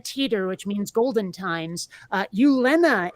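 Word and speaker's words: Gyllene: Ulena is spelled Gyllne, Ulena, Okay.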